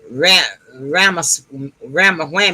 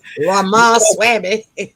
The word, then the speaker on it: Ramaswamy: She has some, and right now, her thing, what she's talking about right now, is this other candidate, Ramawhammy. I don't know how to pronounce his name. Ramaswamy.